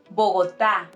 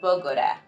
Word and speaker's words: Bogotá: Also, it's Bogotá, not Bogota or any other thing.